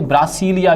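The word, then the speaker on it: Brasília: अब एक और बात इसके ध्यान रखने, कैपिटल वो ब्राज़ीलिया भी बोल देते हैं कई लोग, इसको प्रोनाउंसिएशन में गड़बड़ करते हैं, और कई लोग इसे ब्रासीलिया भी बोल देते हैं।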